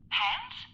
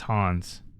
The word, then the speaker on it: Hans: Hands. Damn it. His name is Hans. Hans. Hans. It just drives me nuts. Pronounce the guy's name correctly. It's Hans.